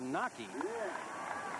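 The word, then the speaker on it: Wnake: Nockey, by the way, name is spelled W-N-A-K-E, but pronounced Nockey.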